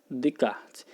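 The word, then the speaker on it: Descartes: é um filósofo francês se escreve descascar seu fez ou se inscreve discar se mas se pronuncia de card é ele vai desenvolver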